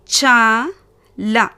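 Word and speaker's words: चल: 2வது வார்த்தை பார்த்தீங்கன்னா ச ல. இதுலேயும் பாருங்க லால முடிவாகுது. லா வியஞ்சன். ஸோ எப்படி ப்ரனௌன்ஸ் பண்ணுவீங்க? இல் மாதிரி ப்ரனௌன்ஸ் பண்ணணும். ஸோ ச ல சல்.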